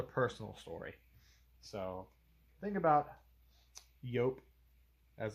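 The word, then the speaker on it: Joop!: So, thing about Yope, as it's supposed to be pronounced, Yopem is I was given this bottle for like my I don't know 16th birthday, something like that.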